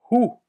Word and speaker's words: hoe: Et après, je te dis comment on le prononce. Bien? Hoe.